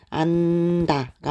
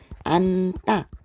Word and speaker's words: 안다: 하게 되죠 또는 뭐 친구를 안다 이렇게 표현을 할 때도 안다가 아니라 안따 요렇게 발음했던 거 기억나시죠 여러분 자 그리고